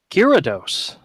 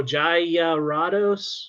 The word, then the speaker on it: Gyarados: say that Gyarados okay you wouldn't think oh no no go back go back just just by these syllables right you want to think it's your uh Jared oh s--- no jaya righto Jared I know I've heard